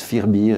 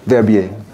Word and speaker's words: Verbier: On prononce Firbier et puis on ne sait pas ce que ça veut dire. Verbier.